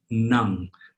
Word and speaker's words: nang: Remember, if an NG is by itself, if it's its own word, it's pronounced nang, like the English word tongue, but with an N, nang.